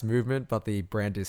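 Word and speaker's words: MVMT: brands so you've got boys like uh it's pronounced movement but the brand is spelt mv empty yeah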